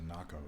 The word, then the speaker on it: NACO: It's NACO. It is the same as the way I said it. There is no alteration.